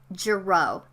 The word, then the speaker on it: Girot: in study hall by the way my name is pronounced Jareau if you've had any French classes then you know that when there's like an ass or a tea or a Z at the end of a word they're silent and O's